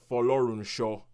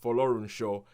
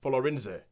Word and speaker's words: Folorunsho: name is Georgia, and I will pronounce this last name properly because nobody in the film does. Folorunsho. That is the way you say it, Folorunsho. But the first couple of times they say this name in the film, I'm like, what the hell? What are you saying? Yeah. No, I actually thought it was a name of South American origin because they pronounce it like Folorinze.